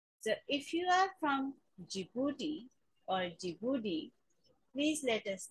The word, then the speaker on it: Djibouti: country's name is djibouti d is silent and we start with the j sound which is g and